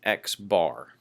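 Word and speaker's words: x̄: that we use for a sample mean is x-bar okay I'm sorry for the fuzziness of this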